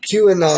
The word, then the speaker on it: QAnon: QAnon, that's how you say it.